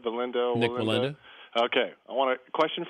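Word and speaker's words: Wallenda: with the Nick am I saying it right valinda valinda okay I want a question for you and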